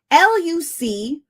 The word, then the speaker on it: Lucullan: Lucullen. Okay. The word is Lucullen. It's a specialty food. It means extremely luxurious. Lucullen. Lucullen. Lucullan.